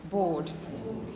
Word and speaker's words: bored: you are imagine you felt like that bored bored you pronounce this word exactly the same as you